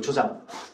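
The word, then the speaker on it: 助長: 이건 조장이라고 읽으시면 돼요. 조장.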